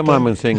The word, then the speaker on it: Mymensingh: had become engaged to a missionary going to Mymensingh. Have I pronounced that correctly? Yeah, Mymensingh, yes.